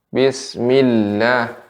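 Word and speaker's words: بسم الله: Ya, Ibu, catatannya untuk pengucapan a'udzubillah, billah, bismillah, ketika ada tasydid lam ya, maka ada lebih sedikit ditekan ya, sedikit diayun.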